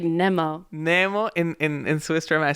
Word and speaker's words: Nemo: Like, you pronounce it, when I listen to you, it's like Nemo. Nemo. In Swiss German, I say Nemo, but in English, I say Nemo.